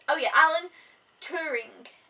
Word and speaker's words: Turing: says oh yeah Alan Turing I actually want to say turning and that's not it it's touring I think t-u-r-i-n-g it's a story of